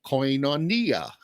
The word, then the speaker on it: koinonia: a sudden you got a coin on nia okay i'm sorry i'm sorry that's bad that is really really bad i know it is but uh anyway that's how i remember how um to pronounce koinonia what does it mean